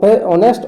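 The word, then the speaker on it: honest: शी इज़ एन ऑनेस्ट officer. Option number B हो जाएगा। शी इज़ एन ऑनेस्ट officer. ठीक है? क्योंकि ओ से शुरू होता है। ये एच भले है लेकिन ओ उच्चारण होता है इसका।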